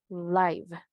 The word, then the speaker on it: live: Entonces, ¿cómo sonaría esta si es en corto? Live, live, live. Vivir. Porque marcharse, leave, leave. Pero vivir, live. Tip, zip, zip. Tiene que estar entonces sonido corto como muy parecido a una E, pero sigue siendo una I en español.